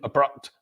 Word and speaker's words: abrupt: And that is because the stressed syllable is on the second syllable. So the pronunciation of the letter A in each of these words is which is the schwa sound, in the word apple,